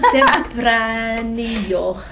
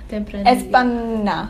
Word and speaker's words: Tempranillo: I don't actually think it's how you Tempranillo. Tempranillo.